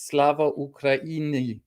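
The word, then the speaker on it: Слава Україні: at least almost correctly this phrase Slava Ukraini Slava Ukraini not Slava or something that is basically Americanized.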